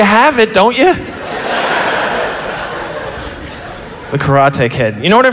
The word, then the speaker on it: karate: People are laughing at my pronunciation, but I'm actually right, and you're wrong. My sensei pronounced it karate, and he was from the Isle of Okinawa, so. I'll be pronouncing it karate for the next couple of minutes.